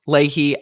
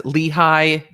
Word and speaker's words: Lehi: thank you for the correction of pronounced leahy as lehi i'm not hugely familiar with all of utah so thank you i will i will get it better i will do it right i pronounce things wrong all the time thank you lehigh utah perfect i mean i guess it is spelled l-e-h-i and i could have